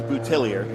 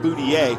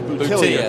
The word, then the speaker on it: Boutillier: He has told me that it is Boutillier. Okay. We always call him Boutier, but it's Boutillier. He likes the more American pronunciation.